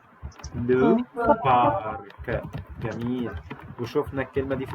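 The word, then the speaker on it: le parc: طيب الكلمه دي اخر حرف هننطقه زي الكي، يبقى اسمها لو بارك.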